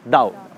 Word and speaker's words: Tao: हम इसको पढ़ते हैं तो इट इज़ ताओ, TAO, बट we pronounce it एज दाओ।